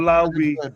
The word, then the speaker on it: Lobby: I don't want Lobby. That's how you say his name, Lobby.